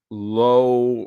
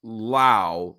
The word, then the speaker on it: Lowe: It says, I think Josh and Nathaniel are low, pronounced like pro, and Brandon is the one that's pronounced Lau, like in cow.